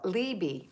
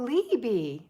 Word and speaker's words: LB: LB, it's pronounced Libby. Oh, Libby. Not the way Marty did or the way I did.